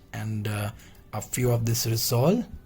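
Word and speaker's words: rissolé: we have is resolu it's not resolute let me tell you this is resole okay and atma soul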